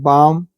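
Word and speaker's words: balm: है हथेली होता है बाम य पर भी साइलेंट है बाल में कहां पढ़ रहे हैं हम बाम पढ़ रहे हैं जंडू बाम बोलते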